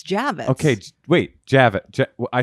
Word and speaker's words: Javits: First of all, you're pronouncing it wrong. Javits. Javits. I think it's Javits. I think we can. I think the ladies in the house can agree that it's Javits.